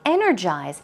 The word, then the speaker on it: energize: And energize, stress goes on the first syllable.